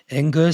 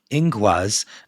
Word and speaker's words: Ingwaz: Ingus sounded pronounced Ingwaz. Okay, I said it wrong.